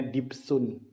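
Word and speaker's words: دبس: Bukan dabes sih, dibesun. Ya, orang-orang biasanya ngomongnya dabes. Tapi bacanya dibsun.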